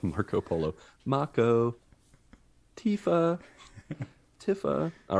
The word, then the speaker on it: Tifa: and uh he he said meiko but said tifa correctly good job for getting tifa correctly as i said earlier i said tiffa because i i probably said i said it